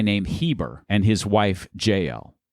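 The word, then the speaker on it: Jael: Heber and his wife jel or if it's Jewish it's probably yel but we'll say JL here yeah we pronounce our Jay's in the west yes we'll stick with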